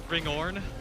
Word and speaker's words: Hringhorni: There's a zone called Ringorn, I believe, but it's spelled HRINGHORNI.